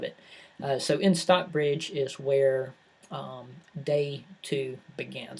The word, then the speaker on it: Stockbridge: pronounced this miss Cooper I mispronounced this everybody knows that I'm from the south can tell the stockbreeding Stockbridge Massachusetts my wife says that I put too many T's in there towards the middle of it so in Stockbridge